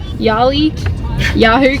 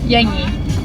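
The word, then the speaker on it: Yangie: First time full driving, and we are back at Yahoo campsite. Just in here. Yowie. Yowie campsite. Yangi. Yangi. That's it. Yangi. Yangi? Did I get it Oh, right?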